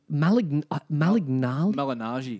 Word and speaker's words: Malignaggi: Malignaggi. Malignaggi. Yeah. Is that how you pronounce Malignaggi, his last name?